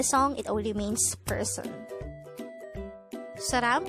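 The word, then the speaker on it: 사람: you hear the word saram in a song it only means person saram could be divided into two syllables sa is formed from the combination of the sounds of siat and ah while ram is formed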